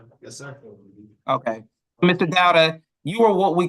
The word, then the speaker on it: Dauda: So are you Mr. Dowda? Is that how you pronounce it? Dowda, D-A-U-D-A? Yes, sir. Okay. Mr. Dowda, you are what we call a fugitive from justice.